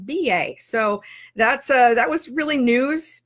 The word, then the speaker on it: BA: So if you missed the video, we've now learned how to pronounce, it looks like Bea, but it is pronounced BA.